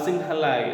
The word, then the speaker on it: Sinhala: the similar people or the Silla or the Sinhala is the correct pronunciation and they are the majority community in